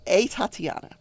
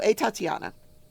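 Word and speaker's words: Atatiana: I can pronounce that so it's Tatiana with an a in front of it apparently all the sisters in this house were named had a names anyway so a Tatiana 28 years old had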